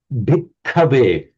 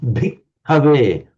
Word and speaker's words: bhikkhave: Can you just pronounce the bhikkhave? And in particular, I'm listening to you saying the very distinct doubling of the K, and also the very